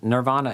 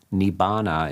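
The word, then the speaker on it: nibbāna: impermanent uh nibana well nirvana is the sanskrit form and that's usually the pronunciation in the mahayana schools and uh nibana is the pronunciation in the the southern schools the tear of our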